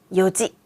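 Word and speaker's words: 四時: 4시는 불규칙이었는데요. 이온지가 아니라 요지.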